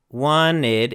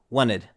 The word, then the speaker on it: wanted: So instead of saying wanted, in American English we usually do not pronounce the T if it comes after an N. So it becomes a very quick wanted.